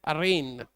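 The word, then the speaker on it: arraign: चलिए नेक्स्ट है अरेन, इसका प्रोनाउंसिएशन है अरेन।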